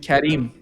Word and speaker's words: Karim: By by the way, your name in Persian, we call it we we pronounce it Kharim. Karim in Persian.